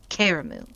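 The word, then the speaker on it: Karamu: the big Feast called caramu that's how you say it caramu this year he wasn't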